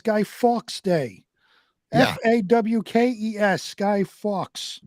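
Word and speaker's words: Fawkes: fox day f-a-w-k-e-s Sky Fox right but with the accent isn't it pronounced Fox well you say [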